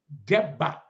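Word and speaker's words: Debbah: People can say Deba. It's not Deba, it's Deba. That's why his name is spelled D-E-B-B-A-H. Deba.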